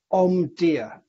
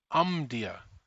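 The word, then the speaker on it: Omdia: market and tracker and how do we pronounce that again tell me so that I'm aware of it is um dear um dear ok mantra ok that's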